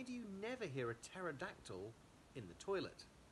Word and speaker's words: pterodactyl: Why do you never hear a pterodactyl in the toilet? Because the pee is silent.